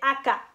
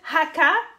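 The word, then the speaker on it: 赤: Rouge, on va dire aka. Aka. Aka. Si vous dites haka, ben là, vous parlez d'un cimetière.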